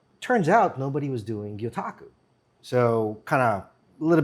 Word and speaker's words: gyotaku: Joined right now by Merv Rubiano with Strategic Angler Custom Lures and Gyotaku.